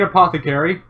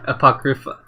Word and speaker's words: Apocrypha: Fate Apothecary. Or Apotheca. I can never pronounce that name for the life of me. Apocrypha.